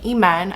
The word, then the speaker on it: Iman: hello my name is emen i know it's spelled iman but it's pronounced amen i feel like i